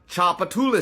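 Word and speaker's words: Tchoupitoulas: knows this mouthful which by the way is pronounced chapula Street chapatas being the now extinct tribe that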